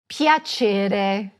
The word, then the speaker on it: piacere: And this is simple enough: "PIACERE." Repeat it after me: "PIACERE." And you guessed it: there is another soft "c" here.